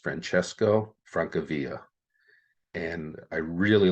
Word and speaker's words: Francesco Francavilla: his name pronounced, but I believe it would be pronounced Francesco Francavilla.